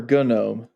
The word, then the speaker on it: gnome: or gorm I mean it's dancing gnome so I'm assuming it's a a silent G is it gnome or gunome uh episode 10 gastric